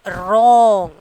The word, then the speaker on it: wrong: Wrong. WRONG. Wrong. Isn't it? WRONG. So which letter is silent? W. Wrong only we are pronouncing, not wrong like that. Okay. So W is the silent.